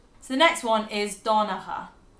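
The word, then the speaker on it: Donnchadh: Don was his name. Which sounds a little bit like the English name Dawn. Yeah, because that's how their accent. Dawn. Donnacha.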